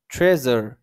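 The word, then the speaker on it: treasure: এরকম একটা উচ্চারণ আসবে। আমরা যদি পড়ি তাহলে বুঝতে পারবো। দেখেন, ট্রেজার, ট্রেজার, ট্রেজার।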